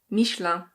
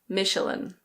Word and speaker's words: Michelin: In French this is pronounced Michelin. Michelin. In English we say Michelin. Michelin.